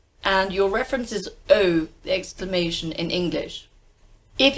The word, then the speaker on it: eau: let's have a look French term first word e a u EA u that is a vowel cluster three letters one sound that sound is oh and your references oh the exclamation in English